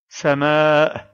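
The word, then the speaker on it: سماء: de mots sans support si on fait la pause on ne prononce pas le tanouine et on dira donc sama comme si on allait prononcer une voy à la suite mais en s'arrêtant juste avant de la prononcer S et non pas sama c'est le même cas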